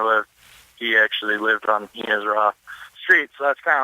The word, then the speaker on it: He-Nis-Ra: Is it He-Nis-Ra or He-Nis-Ra? He-Nis-Ra is kind of how we would pronounce it. Okay. That's even correct, actually.